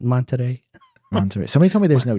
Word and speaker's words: Monterey: it with the accent monterey somebody told me there's no t they just said you pronounce the you don't pronounce the t so it's monterey maybe i'm trying to